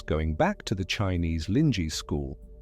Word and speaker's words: Linji: back to the Chinese Linji school, Linji pronounced roughly Lin Ji, being the Chinese name for what became Rinzai in Japan.